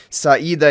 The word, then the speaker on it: Sida: Sida is how you pronounce her name.